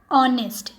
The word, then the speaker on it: honest: And also here you can see there are words like are, honest. They are starting with H, but the initial consonant H is not pronounced here because we pronounce it as R, not hour.